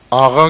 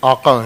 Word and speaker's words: آقا: یاد کرنا ہو، آقا، تلفظ اس کا آغا کرتے ہیں، لکھتے آقا ہیں، اصل لفظ آقا ہے، قاف 2 نقطے